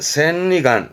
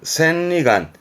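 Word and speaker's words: 千里眼: 안경에 안자 눈 안자 이게 천리 아니라 발음은 센리간 센리간 그렇죠 흔히 뭐 사물을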